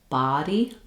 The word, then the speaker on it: body: Um so when we're thinking about body, you want to make sure your mouth is open, your tongue is down and flat, and you have a nice open a sound.